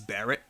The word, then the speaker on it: Bullet: The announcer pronounces Bullet's name as Barrett.